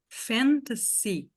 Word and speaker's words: fantasy: Fantasy, fantasy. Em todas essas palavras aqui, o S tem som de S.